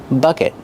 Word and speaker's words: bucket: this bucket is empty bucket use the short sound uh like cup and up bucket and then a short vowel bucket use a stop te at the end not